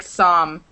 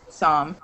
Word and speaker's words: psalm: sorry um the it's a silent l and a silent p in that word so it sounds like psalm that's how it ends up sounding some you don't pronounce a p or the L so it's kind of